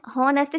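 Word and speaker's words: honest: தென் ஹானஸ்ட் shopkeeper, இதை pronounce பண்ணும்போது இதுவுமே ஒரு எக்ஸப்ஷன் தான். ஹெச் வந்துட்டு சைலண்ட்டாக இருக்குங்க, ஹானஸ்ட் அந்த மாதிரி தான் சொல்லுவோம்.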